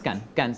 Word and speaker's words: Cannes: No, Cannes, la pronunciación es Cannes siempre. Cannes.